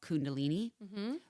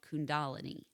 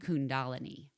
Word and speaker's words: Kundalini: So that's that Kundalini, which that's how I always thought it was called Kundalini, but it's called Kundalini.